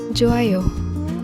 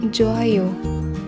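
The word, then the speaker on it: 좋아요: Joayo. Joayo, meaning that's good. Example, I passed my exam. Joayo.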